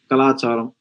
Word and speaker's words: கலாச்சாரம்: Kalacharam? Yeah, culture. Kalacharam.